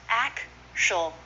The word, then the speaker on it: actually: that with me natural actually is often pronounced actually three syllables instead of four actually rest Bronte is